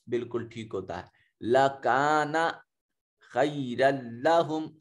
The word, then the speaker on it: خَيْرًا: لَكَانَ خَيْرًا لَهُمْ, خی میں دیکھیے یا ساکن ہے ما قبل مفتوح تو یا لین ہے, اس کو خے نہیں کہیں گے خی کہیں گے.